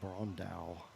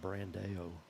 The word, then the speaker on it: Brondal: I just realized I've been saying her name wrong. It's Brondal. Brondal. Okay. Brondal instead of Brando.